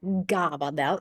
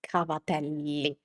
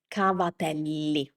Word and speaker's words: cavatelli: So, in this case, it's a They say it like gabba dell instead it's cavatelli. And it's also important pronounce both L's, the both uh the double consonants. cavatelli Okay.